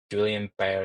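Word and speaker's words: Guillain-Barré: And it's actually quite similar to GBS the I think it's I think it's pronounced as Julian Ber syndrome.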